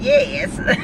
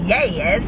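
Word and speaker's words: yass: I was saying yes, sounding all like country or something, but she was like yes, like Y-A-S-S.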